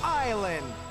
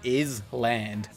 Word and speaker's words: Island: Right now on Total Drama Island. 2007 was when we got Canada's finest import, Total Drama is Land. I know it's pronounced island, but I will protest